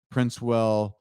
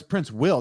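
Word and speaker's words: Princewill: Oh, it's Prince Will, not Prince Well. Prince Will. Prince Will. Fresh Prince Will. Fresh Prince Will. Fresh Prince will smack you.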